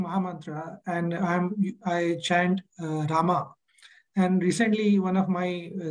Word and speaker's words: Rama: of his disciples that when you chant you have to chant Rama because the the the the the har Krishna Maham contains 32 syllables and you're dropping four of the syllables off so uh yeah sometimes we even see shil propa chance Ram but still we follow his instructions chant Rama so I'm I'm working